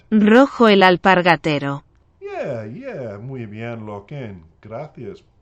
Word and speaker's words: Rojo el Alpargatero: to say it myself, I'm going to say it, Rocco Al, the middle part gets me, Pargatero. Let's see if I've said it right. Rojo el alpargatero.